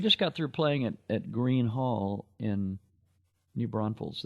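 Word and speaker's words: Gruene Hall: We just got through playing at Green Hall in New Braunfels. That's the place that's spelled Grune. It looks like Grune, but they just call it Green Hall.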